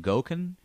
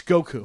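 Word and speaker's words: Gökhan: I don't know how to pronounce this name. G-O-K-H-A-N. Gokan? Gokan? It's Goku.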